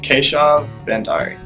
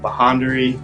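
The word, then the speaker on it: Keshav Bhandari: Yeah, and my last name, some people don't even try, because the BH really throws people off, like Bahandari or Handari.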